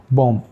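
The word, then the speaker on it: bomb: यह समरी है इसकी बी के साइलेंट इसकी एग्जांपल है बम इसको हम बम पढ़ते हैं बी एंड वाला साइलेंट हो जाता है कॉम बी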